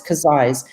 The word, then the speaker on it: Casais: small village called Casais, which always gets confused with Cascais near Lisbon, but it's not. It's Casais, and it's Casais e Alveobeira.